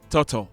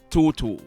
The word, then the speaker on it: Toto: while off after me the guy's name is Toto not tutu Toto is a longtime